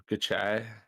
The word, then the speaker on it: Gucci: it is yeah this is house of gucci gucci i heard that's how you're supposed to pronounce to yeah gucci this has uh what's